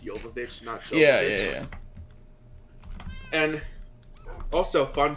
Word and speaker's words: Jovovich: doesn't it says like she's a russian so it's pronounced yokovich yeah yeah and also